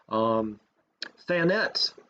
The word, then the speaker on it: Thanet: Thanet rhymes with planet.